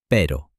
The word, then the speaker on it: pero: pero, which in English means dog, compared to pero, which in English means but.